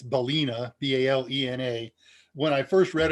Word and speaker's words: balena: It's Balena, B-A-L-E-N-A, when I first read about it, and I have been mispronouncing it and misspelling it ever since.